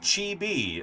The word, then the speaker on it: chibi: It's pronounced Chibi.